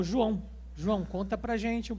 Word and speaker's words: João: bom meu nome é João né Eu tive que adaptar o meu nome para por questão de pronúncia né o americano não consegue pronunciar o a o né Sai ja joau mas o meu nome brasileiro